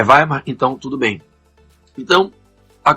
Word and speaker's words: Weimar: vocês me desculpem Tá eu vou falar veimar pela forma como se escreve é Weimar né É vaimar então tudo bem então